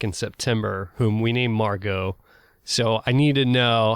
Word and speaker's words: Margot: And it is spelled Margot. Correct. Yeah. Yeah. I'm just gonna have a little trouble with that T, but it's worth it.